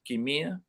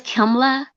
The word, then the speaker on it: Kimla: Is it Kimia? No, it's Kimla.